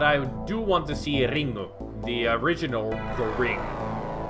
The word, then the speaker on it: Ringu: do want to see Ringu, the original The Ring, which is in Japanese it's Ringu. Yeah, has a U at the end. That's how they pronounce ring.